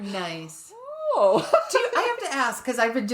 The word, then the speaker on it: ho: But especially both Spanish and Italian have the word HO and variants of it, depending on IU. And it's pronounced O for both of them.